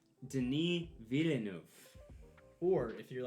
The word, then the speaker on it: Denis Villeneuve: anything so for all you watching it's actually pronounced denis villeneuve or if you're like me and you don't